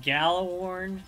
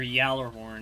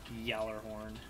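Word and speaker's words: Gjallarhorn: I also play with gallor or Yer horn as you're supposed to pronounce it there's a y it's not g it's pronounced Yer horn was I used it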